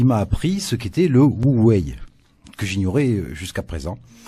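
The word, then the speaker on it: 無為: site Atlantico qui m'a appris ce qu'était le Wu Wei, que j'ignorais jusqu'à présent.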